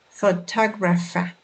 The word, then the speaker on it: photographer: let's take a word photographer the word photographer has four syllables four two graph facts notice that the stress falls on the second syllable for talk reference pay